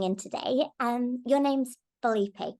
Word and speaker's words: Filipe: much for coming in today um your name's bipe correct did I pronounce that right yeah that's right oh cool